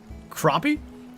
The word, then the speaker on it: crappie: what you talking about I've been here is pronounced crappie I know that we grew up calling him crappy a lot of people did it's it's obviously